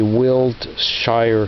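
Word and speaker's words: Wiltshire: only looking for will I didn't pronounce it correctly but it's actually will Shire stay sharp I don't know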